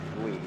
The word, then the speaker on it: Lee: 10-4, just so you know, it's Lee, the same way L-E is pronounced. Oh, Lee.